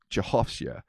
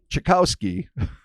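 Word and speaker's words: Czechowskie: No. Gorki Czechowski. Czechowska. It's just Czechowska. So I would have, because I was going from Czechoslovakia, so I said Czechowski.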